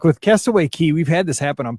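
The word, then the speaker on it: Castaway Cay: like bike rentals that castaway key castaway cake that's way key i'm off once you say it wrong it sounds wrong i've been there castaway key in case it rains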